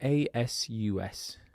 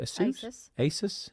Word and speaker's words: Asus: It was how do you say that? ASUS. Is it Asus? Asus? That's how I say it.